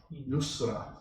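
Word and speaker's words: يسر: Yusra. So in the recitation, you have to be very careful how you say it. Usr and Yusr. Two different words altogether, very close in sound.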